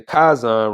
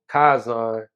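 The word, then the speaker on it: chazan: dared to challenge the kazan regarding the teaching that all images pictures and drawings were idolatrous in nature so come to find out i think i was pronouncing it wrong kaizon in the last episode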